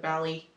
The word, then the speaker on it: ballet: he wants to dance ballet or whatever but since it's british they pronounce it bally i kept laughing at